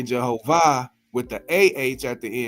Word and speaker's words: Jehovah: time, and he said this particular pronunciation of Jehovah, has to do with being the IH instead of the AH, has to do with heaven and earth.